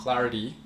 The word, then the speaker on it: clarity: T 발음을 D 발음으로 한번 읽어볼까요? Clarity.